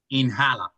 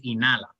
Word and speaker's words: inhala: when you see inhale you won't say inhala you see the age is silence will be inala okay so this is